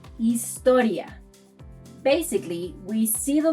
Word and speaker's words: historia: So, unlike English, where one says history, we say historia.